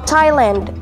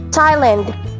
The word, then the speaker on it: Thailand: confirmed but according to the dictionaries and audio pronunciation guides with silent h thailand thailand thailand is known as the land of smiles